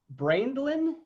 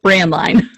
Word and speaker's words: Braendlein: that you couldn't read it's pronounced brand line brand line okay yeah so now